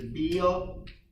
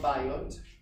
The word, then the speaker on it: Biot: Actually, beta is known as the Beal modulus in heat transfer. But this is beta squared, it's not beta. Okay, the Beal modulus. So it's not biot, Beal. It's spelled biot, it's spelled B-I-O-T.